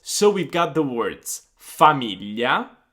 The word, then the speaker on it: famiglia: then we're going to listen to Gaia that pronounced these words for us. So we've got the words famiglia, famiglia, figlio, figlio, foglia, foglia, maglietta, maglietta.